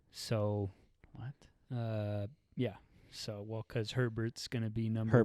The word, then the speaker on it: Herbert: So, because Herbert's going to be number 1 overall pick, and guys whose name rhymes with Sherbert.